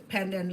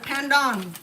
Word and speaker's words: pandan: And it's not panda. Pandon. Okay. Pandon. Um, Thai call it a th by and and Cambodian call by toy th I think same thing.